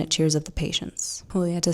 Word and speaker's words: Julieta: Julieta told me how to pronounce her name, Julieta.